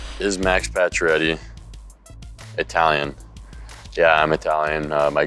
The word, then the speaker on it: Pacioretty: How is Max Pacioretty pronounced? I just said it, Pacioretty.